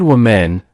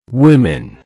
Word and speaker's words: women: If you said women, that's a very common mistake. The correct pronunciation is women. Women. Let's break it down. Women. That's 2 syllables. The stress is on the first syllable.